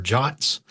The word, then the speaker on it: JWT: JWTs, or JOTs, as some people pronounce them, also play a role, or is usually goes hand in hand with that technology.